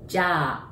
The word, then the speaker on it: Jyā: That's because we prolong the word. And last one is ja, a sound, right?